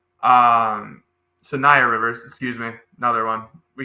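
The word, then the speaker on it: Saniya Rivers: Sonia Rivers. Um Sayia Rivers, excuse me.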